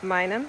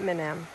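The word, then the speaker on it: Minam: is the minum river we were pronouncing it wrong apparently it's mynum not minim so that's a beautiful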